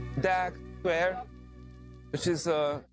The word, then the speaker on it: Deák: So it's called Deak Square, which is spelled like D-E-A-K.